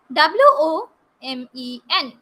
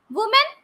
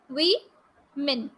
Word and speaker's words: women: r is silent so it is iron iron w o m e n what do you pronounce it as woman no it is wrong it is women we men we men women women women today are very